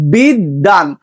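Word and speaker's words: বিদ্বান: ঠিক আছে, আবার দেখো বিদ্যান, তো এখানে দটা ডাবল উচ্চারণ হচ্ছে, তোমার বয়ের কিন্তু উচ্চারণ হচ্ছে না।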